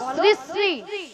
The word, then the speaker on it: শ্রী: আরে মাসি ওনার নাম ছিড়ি ছিড়ি নয় বলো শ্রী শ্রী ছিড়ি ছিড়ি মাসি শ্রী শ্রী শ্রী শ্রী শ্রী